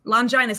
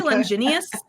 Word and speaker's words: Linus: me Amy I always it's the Lance of Linus Linus I always want to say lenus I yeah I I